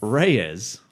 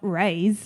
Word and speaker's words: Reyes: Ghost Rider Robbie Reyes Reyes not Reay as it were uh yeah and that's the problem like when you only get to read things and you never actually you know you kind of just pronounce it how you think it would be said I thought it was Ray easy I thought he was